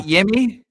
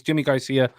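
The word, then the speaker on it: Yimi García: that's that's how it's pronounced that's how it's pronounced yeah not not yimmy no sorry wow my our apology our apologies but yeah he's Jimmy Garcia C Jimmy Garcia up here damn you guys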